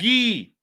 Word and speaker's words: Guy: It's Gee. Don't me mess with the ghee, man. Foyer. Proper pronunciation, plain and simple.